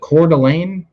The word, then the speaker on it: Coeur d'Alene: What's was it Coeur d'Alene? Is that how it's pronounced in Idaho?